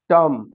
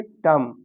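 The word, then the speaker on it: tomb: जैसे एग्जांपल देखते हैं, टर्म। अब यहाँ बी लिखा है लेकिन इसको हम पढ़ेंगे नहीं। क्या पढ़ेंगे? टर्म।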